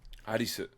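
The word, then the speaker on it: アリス: People don't realize like the girl's name in English is Alice, but it's Arisu. Arisu. Yeah. Exactly. So it's like it kind of sounds like you're just having a shitty Japanese racist accent, but that's actually how it's pronounced. Arisu. Yeah, exactly. I mean, because it's the way they pronounce L's. L's and R's, they sound the same, and it turns into like a...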